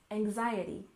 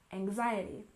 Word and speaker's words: anxiety: remember in climate climate and anxiety we stress the second syllable anxiety anxiety and this refers to